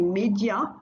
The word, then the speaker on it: médias: And je travaille dans les médias, again don't pronounce the S.